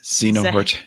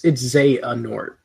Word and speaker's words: Xehanort: Is that It was Xenohort. Zahanort? It's Xehanort. Xehanort? Yeah. Oh, I put the emphasis on the wrong syllable.